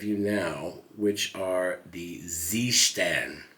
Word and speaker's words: Seestern: now which are the Zan as it's pronounced in German even though they're made